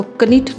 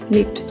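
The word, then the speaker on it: knit: निट इस word में इस वर्ड में के साइलेंट है तो इसको कनिट नहीं बोलेंगे निट बोलेंगे निट के एन आई टी निट ज्यादातर ऐसा होता है जब के और एन एक साथ आए तो के साइलेंट रहता है और ने की ही साउंड आएगी तो यह वर्ड बोला जाएगा निट एल आई सी के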